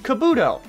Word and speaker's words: Kabuto: Kabuto is pronounced Kabuto.